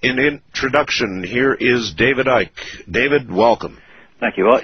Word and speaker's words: Icke: they called me um Ike um they called you yeah I mean that you don't pronounce the c um actually funny enough